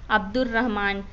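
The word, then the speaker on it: عبد الرحمن: जैसे कि अब्दुर्रहमान, इसमें अलिफ लाम लिखा तो गया लेकिन पढ़ा नहीं गया।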